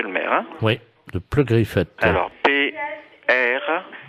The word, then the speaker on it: Pleu-Griffette: Oui, de Pleu-Griffette. Alors, P-R... Comme ça se prononce, hein, Pleu-Griffette.